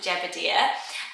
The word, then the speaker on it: Jebediah: So it's one of those biblical names, Jebediah. I prefer it Jebediah, and I must have known somebody who pronounced it Jebediah, because I always say it that way, but I think biblically it's Jebediah.